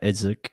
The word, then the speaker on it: Idzik: I mean, if this guy I can't pronounce it, Idzik, is that how you pronounce it? yeah, Isaac.